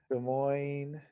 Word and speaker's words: Des Moines: So I'll do Edison Electric You Des just don't Moines, like that R, do you? Des Moines. I remember how to spell it.